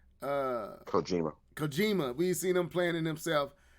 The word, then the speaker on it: Kojima: Is it Kimishima? Is that how you say his name? Kojima.